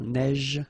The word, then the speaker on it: neige: so same thing here, a neige, final E not pronounced, you only pronounce this j, same thing here, averse, okay, S is pronounced, the E is not pronounced.